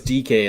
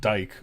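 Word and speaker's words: Dike: if I have him his last name is DK it's spelled d-i-k-e uh first name is Khmer c-h-i yeah yeah okay yeah so um you said DK and I'm like yeah I know I don't know but yeah yeah okay so I I've been pronouncing it Dyke but apparently it's not that it shows what I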